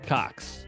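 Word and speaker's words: Cocks: Cox. Yeah, it's Jay Cox. Nice. Very and good. It's spelled C-O-C-K-S, which makes it even better.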